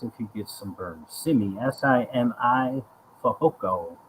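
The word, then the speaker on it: Simi Fehoko: you get some burns simmy s-i-m-i foco i believe that's how you pronounce it i'm sorry this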